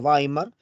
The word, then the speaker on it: Weimar: Como te mencioné, Producto de ello se establece la República de Weimar, se escribe Weimar, se pronuncia Weimar, es una ciudad, ¿no?